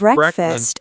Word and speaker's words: breakfast: I have breakfast at 8 o'clock. Perfect. You sound great. And don't forget the pronunciation. Breakfast, not break fast. Say it quickly, like one word.